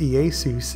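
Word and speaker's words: Ἰησοῦς: name has its variations what was originally pronounced ei sees in the Greek is now commonly said as Jesus and modern English or hey-zeus in Spanish however when investigating the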